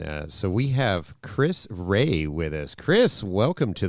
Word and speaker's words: Rea: my last name right everybody says Ria or rea it is R EA he was practicing all